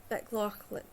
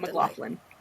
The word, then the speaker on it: McLaughlin: introducing you to Heidi MccLaughlin. And let's welcome Heidi MccLaughlin. Oh my gosh, I totally butchered that, McLaughlin. McLaughlin, thank you.